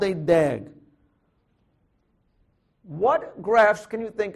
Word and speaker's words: DAG: directed a cyclic graph which we call pronounce as a dag okay so I'm going